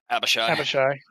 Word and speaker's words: Abishai: So, anyways, so the encounter is a black Abishai, Abashi, No, you said it right. Abishai, black Abishai, and four goblins.